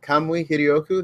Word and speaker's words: Kamui Hiryoku: Then I, because no one can pronounce it, forgive me, it is in Japanese, it's an old pen name, but at Kamui Hiryoku, that is KAMUIHIRYOKU.